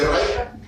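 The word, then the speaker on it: Reichert: El cartílago del segundo arco, exactamente, el que se escribe Reichen se pronuncia Reicha, y ese da origen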